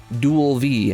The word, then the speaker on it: Digivice V: I thought that was the Digivice V, or Dual V, as it is apparently pronounced.